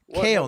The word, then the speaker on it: Cael: Cael, not Kyle.